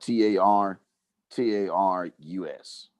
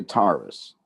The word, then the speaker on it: Tartarus: some people say Tartarus some people say Taurus but it's t in in my tongue if if I was going to pronounce it would be Tartarus now Tartarus is a